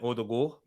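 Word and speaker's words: Ødegaard: then we've got martin odo because the two ace in norwegian has an o sound had it from the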